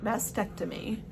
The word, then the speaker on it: mastectomy: And I don't think, so like when you have a mastectomy, I never pronounced the other T, mastectomy.